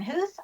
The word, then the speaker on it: Huth: And the last name even though it's pronounced like you're hearing some o's in there aren't any.